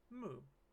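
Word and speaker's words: む: how it's pronounced so this is Moo like a cow let's use moo to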